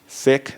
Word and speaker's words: Sikh: term we use so s i k h sick that's the pronunciation so I'm speaking to a siik but